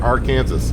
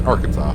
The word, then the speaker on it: Arkansas: and hello Arkansas or some people may pronounce it our Kansas I don't know no I think but it's Arkansas but anyways yeah we're